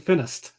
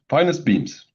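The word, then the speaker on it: FinEstBeAMS: I've been saying up until 30 seconds ago I've been saying Finnest. Yes. Well, it's the Finnish and Estonian. So, yeah. Okay. It's also correct. But yes, finest beams.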